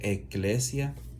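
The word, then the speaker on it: ἐκκλησία: La palabra iglesia es una palabra griega, que significa, que se pronuncia eclesia, se refiere como un grupo de personas sacadas fuera.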